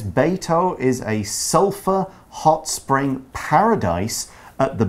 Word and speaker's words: sulfur: sometimes see this word s-u-l-f-u-r and you might see it s-u-l-p-h-u-r that's more common in the UK for sure but sulfur sulfur it's spelled it's spelled differently it's pronounced the same way it's a chemical element